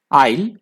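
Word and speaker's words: aisle: इसका पहला वर्ड है आइल. एस यहाँ पे साइलेंट है, ध्यान रखिएगा, एस साइलेंट है, आइल बोलेंगे इसको.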